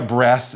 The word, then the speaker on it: breath: Breath is like death, E-A-T-H, but then you